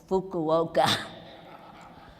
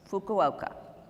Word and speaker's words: Fukuoka: and Osaka and let me say this right Fukuoka yeah they made me practice that for two hours say it right Fukuoka lovely lovely people hundreds of Physicians came to